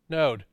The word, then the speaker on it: Node: It starts with N and rhymes with bode. Node.